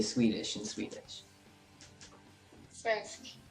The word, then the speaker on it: svenska: Svensk. Svenska.